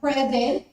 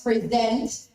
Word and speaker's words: present: for example you have present it's a noun and then you change it to another if you shift the stress to the second syllable it becomes present which becomes a verb repeat is a noun